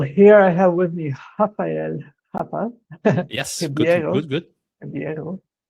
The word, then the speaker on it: Rafa: I did not know that in Portuguese that's how you pronounce it. Yeah, what I normally say to people is just think about happy Rafa, because in Portuguese, the R at the beginning of the word sounds like the H at the beginning of the word in English.